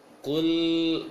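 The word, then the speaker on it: قُلْ: Dibacanya yang tepat adalah Qul a'udzu bi rabbin nas. Jadi jangan baca qul a'udzu terlalu lemah.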